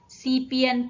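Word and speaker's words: 西边: 2 พยางค์ นะ คะ ตัว นี้ ออก เสียง ว่า cac เปลี่ยน ซี เปีย น ซี เปลี่ยน แปล ว่า ทิศ ตะวัน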